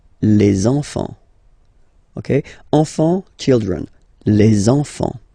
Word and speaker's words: les enfants: And now we can focus on the liaison here. So you should make the little link. Les enfants. Les enfants.